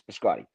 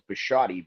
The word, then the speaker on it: Biscotti: I pronounce it correctly. You guys pronounce it incorrectly. Like you can you can you can try to spice up his name and say, "Oh, it's Bashotti." But it's Biscotti. B I S C O T Ti. It's Biscotti. This is not a Frankenstein versus Frankenstein matter.